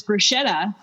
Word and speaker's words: bruschetta: when when you put when you write the word on the board and they say yeah it's bruschetta and you're like actually and then you blow their minds a little bit because CH in Italian is always